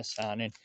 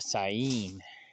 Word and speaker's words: Saanen: I'm thinking I'm just gonna go with, I call it the Saanen, but I guess the first N is silent. I found that out last night too. It's not a Saanen, it's a Sayin.